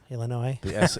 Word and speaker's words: Illinois: you like that noise illinois the s is silent shows yeah i'm just